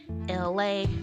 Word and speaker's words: Elay: Yo, this is me, Elay, pronounced like LA, like the city.